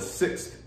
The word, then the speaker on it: sixth: you need that's important the th sound at the end of the number six it creates a difference it lets you know there's a difference between the number six and what a sixth is those are two different